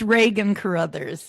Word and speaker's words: Regan Caruthers: Without further ado, I would like to welcome our guest, Miss Regan Caruthers. May did I pronounce it Oh my. Yeah, it's all right. It's Regan Caruthers.